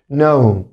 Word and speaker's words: know: اللي بعدها كلمة know الكي هنا silent حبايبي، تاني حرف الكي silent. know know والماضي بتاعها new new new or new new new new.